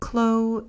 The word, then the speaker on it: Clos: this champagne is the clo piece now in France and in particular in French wines the term CL which is spelled Clos I'll just hold the